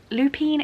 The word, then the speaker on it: lupine: Grace brooding demeanor and Lupine Lupine is how you say that word blue eyes have drawn